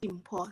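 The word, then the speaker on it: Limpho: All right, just as you said, my name is actually Dimpo, so it's written Limfo, but it's pronounced Dimpo.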